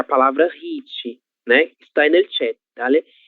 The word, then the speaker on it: hit: Hit, como eu comentei com vocês, é uma palavra que ela não é brasileira e ela não foi abrasileirada. E é por isso que esse H será pronunciado da mesma forma do inglês, hit, certo?